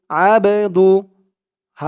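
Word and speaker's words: عبده: আশহাদু আন্না মুহাম্মাদান আইন দিয়ে বা ধরবে আইন বা জবর আবে আবে একটু ধাক্কা খাবে আওয়াজটা কারণ এই বা টা কলকলার হরফ কলকলা মানে ধাক্কা দিয়ে পড়া আবে দাল পেশ দু আবেদু হা উল্টা পেশ হু এখানেও এক আলিফ টান হবে আবদুহু জবর সিন পেশু আশহাদু আন্না মুহাম্মাদান আবদুহু এক আলিফ টান পেশের পরে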